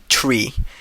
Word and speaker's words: tree: For instance, the number three is pronounced as tree and nine is pronounced as niner.